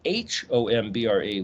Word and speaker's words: hombre: well wait a minute that sounds like the word h-o-m-b-r-e which is hombre silent h in spanish so if you